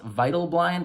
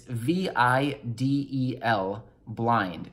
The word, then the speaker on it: Vidal Blind: Oh, Vital Blind, or I'm not sure if it's pronounced Vital Blind or Vidal Blind. It's VIDEL Blind. So again, VIDEL Blind, and that's with a Nexus.